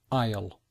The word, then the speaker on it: aisle: difficult pronunciation it begin you don't hear the letter S and it's not really you don't really hear the letter A either so we say aisle so this is the aisle because this is the